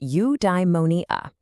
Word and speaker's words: eudaimonia: Okay, I've got a new word for you, eudaimonia. It's pronounced eudaimonia.